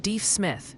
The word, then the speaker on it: Deaf Smith: Oh, and the pronunciation police are gently reminding us it's closer to Wolfforth. For Wolfforth and Deef Smith for Deaf Smith County.